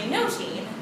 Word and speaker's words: nothing: to you about nothing the Elizabethan pronunciation was actually notin which is sort of related to song musicality um it's also play